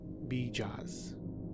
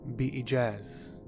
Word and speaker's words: Bijaz: is a fascinating character, Frank Herbert pronounces his name Bijaz. Bijaz. But this could be an Arabic word, actually two words, in fact, pronounced Bijaz. Bijaz. Bijaz. And in Arabic, this means by a miracle.